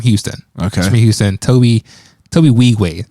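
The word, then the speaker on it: Tobe Nwigwe: but he's from Houston okay from Houston Toby Toby we way how you actually pronounce his name in is silent in is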